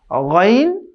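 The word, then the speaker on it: غ: যেখান থেকে স্টার্ট হয়েছে, এই শেষ ভাগ থেকে এখান থেকে 2টি হরফ উচ্চারিত হয়। সেই 2টি হচ্ছে গাইন খ।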